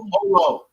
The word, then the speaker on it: Jolo: So, have you been to the Jolo Island? Am I saying it correctly? Holo. It's called Holo.